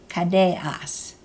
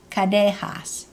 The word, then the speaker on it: kadehas: For two of us, the question ending is kadeas. The glottal stop in kadeas is really a missing H, and sometimes that H is actually pronounced and written. Kadehas.